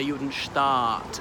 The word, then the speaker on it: Judenstaat: So that was 1896, and he wrote Der Judenstaat, as in the Jewish state. Sorry, I should pronounce it Der Judenstaat with a double A.